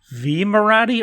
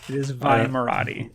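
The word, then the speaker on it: Vi Moradi: Is it pronounced V Marathi or Vi Marathi? I believe it's officially pronounced Vi. Last time I checked. Okay, so I am wrong then. So it is Vi Marathi.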